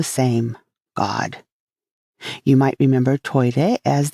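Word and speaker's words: トイレ: god you might remember toire as the japanese pronunciation of toilet and if you study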